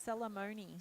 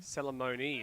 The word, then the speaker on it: Salamoni: the bigger meets because i was told how to pronounce it properly okay salamoni salamoni and she does take it